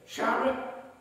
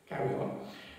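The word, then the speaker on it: chara: the Bible words Shar Greek says this Shar or which is c h a r a if you can pronounce it better car but what I will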